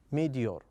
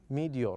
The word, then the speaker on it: meteor: as you can see we have t here uh but we pronounce it as da okay meteor meteor okay as you can